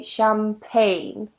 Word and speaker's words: champagne: together in a word we don't pronounce the G so we say champagne that's it for me